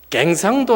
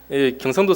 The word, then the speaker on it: 경상도: 경상도 사람이 여 발음이 잘 안 돼요. 그래가지고 경상도가 아니라 갱상도 이럽니다. 평택이 아니라 팽택 이럽니다. 이 여 발음이 안 되거든요.